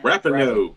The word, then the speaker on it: Rapinoe: Rapinoe.